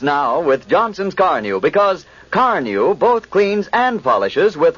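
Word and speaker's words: Carnu: Carneu is spelled C A R N U.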